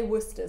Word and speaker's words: Worcestershire: say it in german it's just called worchester sauce it's well we would say worcester sauce we ignore all of the letters so you're going to